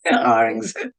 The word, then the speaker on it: Aurangzeb: guess, to the throne, and his brother, Prince Aurangzeb. I don't know how you pronounce it. Yes, Aurangzeb.